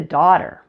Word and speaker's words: daughter: let's get back to daughter basically the GH in the middle is silent this should help you